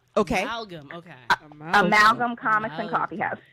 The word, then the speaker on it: Amalgam: I mean, and the name of your store is, I don't want to mispronounce the name, so please. It's that is what everybody says. It's Amalgam. Okay. Amalgam.